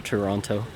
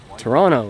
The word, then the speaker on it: Toronto: or anything just to toronto or as the locals would say toronto because they all call me out on it whenever i pronounce it toronto with a strong heavy tea toronto or toronto anyways